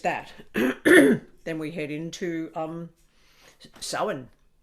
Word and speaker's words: Samhain: Then we head into Samhain. And it's pronounced Savine in Scotland. Samhain in Scotland is Savine, Samhain, same thing.